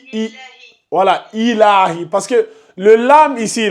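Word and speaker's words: إِلٰهِ: Sur le lam, il n'y a pas de shadda. Illahi. Faut pas dire il. Quand tu dis illa, c'est comme si tu rajoutais une shadda.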